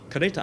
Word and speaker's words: kereta: Final a is usually pronounced as a schwa in Malay, at least in Malaysia.